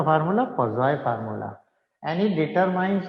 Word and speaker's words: Poiseuille: पॉइजलीज formula को actually पॉइजलीज मैं बोल रहा हूँ पर इसको कहते नहीं है, इसको कहते हैं पॉजॉय, पॉजॉय फार्मूला। कौन सा फार्मूला? पॉजॉय फार्मूला।